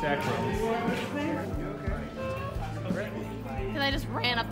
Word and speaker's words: Akron: It's Akron.